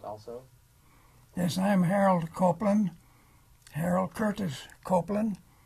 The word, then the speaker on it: Copeland: to have you say your name and then spell it also yes I am Harold copelan Harold Curtis copelan h a r o l